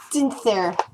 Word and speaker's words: Stinair: My name is Stinair. She pronounces it like a stint there. She pronounces it more like a hissing noise more than I can actually accomplish. It's s there.